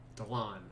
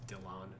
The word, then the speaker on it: Delon: keeps telling right then delon i keep saying i keep saying because that's how it's spelled but it's dylan yeah this this is one